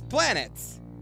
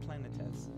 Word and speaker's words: Planetes: It's red, it reads planets. And you'd think that's what it was, but it's pronounced Planetes.